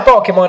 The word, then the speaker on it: Pokémon: Che poi Pokémon, ragazzi, voi notate, c'ha l'accento sulla E.